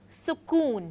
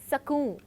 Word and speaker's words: sukoon: Here he uses the word sukoon, pronouncing it sakoon.